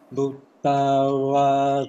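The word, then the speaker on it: bhūtā: Tawa yewa adita ye che dure vasanti avidure Bhuttawa sambhave siva sabbe satta bhavantu sukhitata. Okay, accepted line. You self-correct the first two words. Bhuttawa. Not BHU, one syllable. TA, another syllable. So, Bhuttawa.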